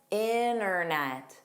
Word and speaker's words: internet: The guideline is there's a dropped T. You don't pronounce it at all. Notice it's not a soft D. It's not a flap T. You just drop the T. You get rid of it in an NT cluster.